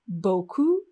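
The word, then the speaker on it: beaucoup: if you speak french you could say boku with our first u sound and that means a lot now if we change the vowel sound and only the vowel sound it sounds like boku boku boku now again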